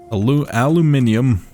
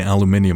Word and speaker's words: aluminium: What's it called? Aluminium. God damn it, why am I pronouncing aluminium now? I'm not even like British.